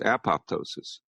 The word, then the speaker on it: apoptosis: following EMF exposures uh what's called apoptosis sometimes pronounced apoptosis program cell death uh